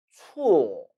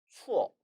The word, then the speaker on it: 错: 이 단어는 틀릴 착자인데 이 단어 발음을 틀리게 하는 경우가 참 많습니다. 추워, 추워. 아니에요. 뭐가 그렇게 추워요? 이거는 추, 우 모음과 오 모음이 합쳐진 복모음입니다. 따라서 추, 추. 빨리 하면 추, 추라고 발음해야 하는 것이죠.